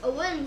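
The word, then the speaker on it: Eoghin: When I was younger, when I was making my account, I was putting it in, my name's Owen, so when I was put, it's spelled E-O-G-H-I-N.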